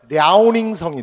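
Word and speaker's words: 辽宁省: 오늘날의 고조선의 영역이라고 추정되는이 요령성도 중국식 발음으로 하면 랴오닝성이 되는 거야 근데 라운딩 성은 여러분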